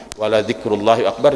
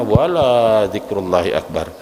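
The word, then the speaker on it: وَلَذِكْرُ اللَّهِ أَكْبَرُ: Wala dzikrullahi akbar dibacanya wala dzikrullahi akbar. Lamnya dipanjangin ya. Lam itu sungguh zikrullah lah yang paling besar. Karena dibacanya panjang la, maka artinya bukan zikrullah yang akbar.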